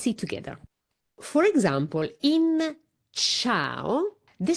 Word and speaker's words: ciao: And so this is the sound that the c makes for example in ciao. Great. Let's have a look at a few words with ch. For example, ciao.